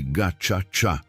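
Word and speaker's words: Gacaca: O novo governo dominado pela FPR de Kagami implementou um sistema de justiça tradicional chamado Gakaka, pronuncia-se Ga Tchá, onde tribunais comunitários julgavam perpetradores locais.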